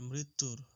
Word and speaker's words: মৃত্যুর: আমরা, এখানে ফলা না লিখে এখানে কার লিখবা, উচ্চারণটা হবে মৃত্যুর, মৃত্যুর।